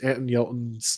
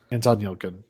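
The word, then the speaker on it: Anton Yelchin: movie Patrick Stewart movie I'm gon I'm gonna mispronounce this Anton yelton's last movies andon yilin thank you that movie was very good um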